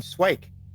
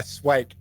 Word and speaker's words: Swike: Ah you did good work here I'm I'm swike are you like just jobbers you know for hire all sorts out of character what did he say his name was swi swi yeah swike s wi I ke oh swike okay um